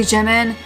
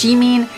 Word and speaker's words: Jimin: apple she means jimin many people say gemin i think the proper korean pronunciation is g-mean i'm all over the